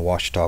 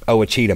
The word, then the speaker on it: Ouachita: Cossatot River in the Ouachita Mountains. I've heard a few old-timers pronounce it Ouachita Mountains, but man, that just sounds so dumb.